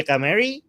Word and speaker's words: Ghamari: Her name is Goldie Ghamari. I pronounce her correctly. You Ghamari, did.